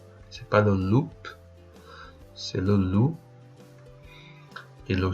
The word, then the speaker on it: loup: le chien le loup attention le P final on le prononce pas c'est pas le loupe c'est le loup et